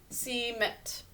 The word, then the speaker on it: cement: Okay, so cement is the way we pronounce this word. Says its second sound. We think to say it as an E, but it says more of an sound, cement.